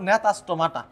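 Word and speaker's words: Gnathostomata: সাইক্লোস্টোমাটা একটা নাম হল নেতাস্টোমাটা জির উচ্চারণ হবে না জির উচ্চারণ হবে না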